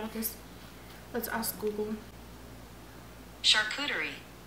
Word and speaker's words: charcuterie: actually though we also got a cartoon car car shootery i don't know if that's how you say it i'm really bad at this let's ask google charcuterie charcuterie not charcuterie so we got a charcuterie board